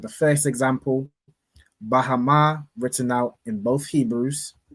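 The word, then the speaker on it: בהמה: Now, Ayala, could you tell us how we would pronounce this first word in the Hebrew? Beasts. Khan. Bahama.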